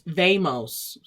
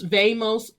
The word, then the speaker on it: vemos: in boy okay because in spanish speaking with that swag you pronounce the v's like bees this is not nos vemos nos vemos pronto okay for your